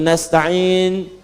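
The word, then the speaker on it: نستعين: Yang kedua itu nastain dibacanya menggunakan fathah ujungnya sukun. Jika ada yang baca menggunakan kasrah itu dari bani Tamim, bani Asad di antaranya.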